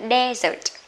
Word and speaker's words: desert: Còn cái này á, nếu mà là danh từ á, nó sẽ đọc là desert, âm một nhá, desert. Desert có nghĩa là cái vùng hoang mạc đó các bạn, hay là sa mạc cũng được.